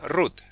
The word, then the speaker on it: root: Root me da risa yo siempre le digo rota lo leo hispanamente pero en inglés se pronuncia Ruth mi compadre acá de